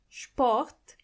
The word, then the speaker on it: Sport: Sport.